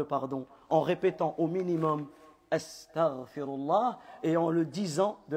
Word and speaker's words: أستغفر الله: Astaghfirullah, Astaghfirullah, c'est comme cela que l'on prononce et pas comme on a l'habitude de l'entendre, et encore plus grave,